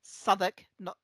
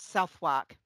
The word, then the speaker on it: Southwark: to teach me that it was Southwark, not Southwark. Because I used to talk about Southwark Station until somebody pointed out that it's actually pronounced Southwark, because that's what the nice lady on the buses said.